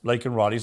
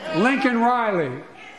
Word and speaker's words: Laken Riley: the State of the Union address, did not pronounce Laken Riley's name properly. It's not about him. It's not about me. I'd be a winner. Not really. Lincoln Riley, an innocent young woman who was killed by an illegal.